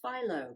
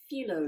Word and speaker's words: phyllo: need some phyllo now i used to call this philo but i learned i had been saying it wrong all those years it's a filo dough and you can buy